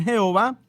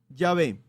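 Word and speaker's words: Yahvé: hebreo es decir que la pronunciación jehová es una pronunciación incorrecta del nombre de dios que es en realidad llave así entonces más adelante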